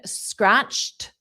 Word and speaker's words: scratched: Just you need scratched in the past simple and backed in the past simple. Both of them are with the pronunciation of T. They're both ED, but it's pronounced T.